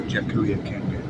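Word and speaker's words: Jacareacanga: I can never pronounce the actual word. It's Jakiaranga. Yeah.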